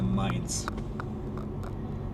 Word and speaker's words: Mainz: there is mines City so mines is like Z at the end it's basically mines but in German pronun pronunciation it's a mines so yeah just like